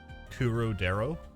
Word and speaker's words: Claudel: Claudel, but in the Japanese, they say Kurodero.